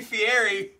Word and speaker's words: Fieri: It's supposed to be Fieri, but it's spelled Fiero.